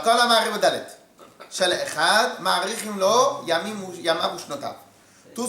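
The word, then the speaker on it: אחד: Il ne faut pas non plus faire chad, echad. Il faut bien tout prononcer.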